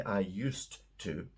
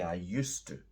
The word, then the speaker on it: used to: I used to live in Spain notice the pronunciation I don't say I used to because it's too clunky we say I used to so it sounds like USC too which is